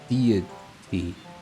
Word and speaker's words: deity: like I feel like the way I'm saying deity is almost like there's two T's in it, but there's not. It's kind of messing with my head. No, deity. Deity. Yeah, now I'm saying it right.